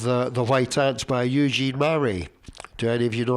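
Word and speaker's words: Marais: But the spelling of Murray is M-A-R-A-I-S. You got that? So the French pronunciation of that is Murray.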